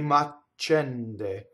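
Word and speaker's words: m'accende: Che macende.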